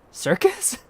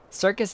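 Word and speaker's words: Syrcus: Circus. Like a clown. Circus tower. It's not psych. It's not cyus. Cycus. Circus. Circus. Cir. That's just circus but pronounced like French.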